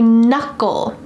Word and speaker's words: knuckle: Each of my fingers has a knuckle. My thumb has 1 knuckle. Notice the K is silent, but my other fingers have 2 knuckles.